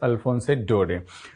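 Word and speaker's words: Alphonse Daudet: the last Lesson by alfonse dode so here this in this name t is silent we don't pronounce this T this is alfonse dode now how strange and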